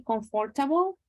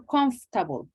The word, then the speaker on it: comfortable: Well, also guys, for you, remember that for this word comfortable, there are 2 different, let's say, pronunciations, and they are fine. It is okay to say comfortable or comfortable. Probably comfortable is a little bit more common, but whatever you choose